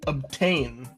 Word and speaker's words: obtain: Kind of like the word obtain. Ob is kind of a lower lazier pronunciation. And then tain feels really strong.